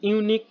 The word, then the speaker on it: ইউনিক: বসবে this is অ্যান ইউনিক case you এর মতন উচ্চারণ ইউনিক শব্দটা ইউর মতন উচ্চারণ হয় এন না বসে এ